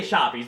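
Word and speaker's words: Shoppes: submersible sandwich shoppies uh i say shoppies because the shop is spelled s-h-o-p-p-e-s and not the american way s-h-o-p get it shoppies hey is shoppies french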